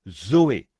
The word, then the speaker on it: zoé: Et en grec, pour dire la vie de Dieu ou la vie éternelle, on se sert du même mot que l'on prononce Zoé. Z O E.